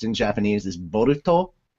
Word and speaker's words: Boruto: pronounced in Japanese is boruto so it's kind of like Naruto except it starts differently but that's how you